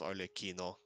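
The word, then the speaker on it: Arlecchino: It also unless say otherwise by in-game it would be pronounced arleino.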